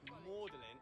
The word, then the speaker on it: Magdalene: he could, which was Magdalene, Mary Magdalene. Instead, though, he used the Latin pronunciation, which is Magdalene, and has the word Audley, his name, right in the middle.